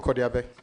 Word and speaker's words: Kodiabe: So, Kwame, hometown, you have Adaklu, Kodiabe. Correct me if the pronunciation is. Yes. Adaklu, Kodiabe.